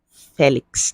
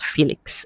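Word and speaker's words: Félix: corrected us this week he said his name is pronounced Joel Felix not Felix all right so let's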